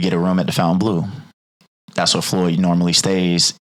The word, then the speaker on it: Fontainebleau: We go down there, we get a room at the Fontainebleau. That's where Floyd normally stays when he's there, right? So that's actually how you pronounce it. I've been calling it Fontaine my whole life.